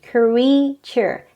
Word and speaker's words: creature: it is pronounced as creature there are only two syllables the stress is on the first again creature great all right we